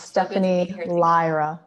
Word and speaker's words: Stephanie Lyra: It's pronounced Stephanie Lyra, by the way.